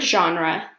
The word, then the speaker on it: genre: into genres the word genre comes from the french word which is also pronounced genre with a soft g or j sound z genre and it just means